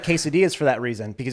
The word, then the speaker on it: quesadilla: That's why I don't like quesadillas for that reason, because it's too much cheese and nothing else.